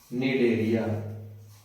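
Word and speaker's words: Cnidaria: Phylum सीलटा is also known as the name निडरिया। निडरिया। ठीक है? सी यहां पर साइलेंट है।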